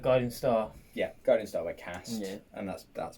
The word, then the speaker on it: Cast: That was Guiding Star by Cast, as I've been told to pronounce it. As in Bath. As in Bath and glass and grass.